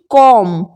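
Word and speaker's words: comb: यहां पर नहीं होगा ऐसे ही कॉम कॉम यानी कंघी कॉम का भी चरण आपको इसी प्रकार से करना है कॉम यहां पर मैंने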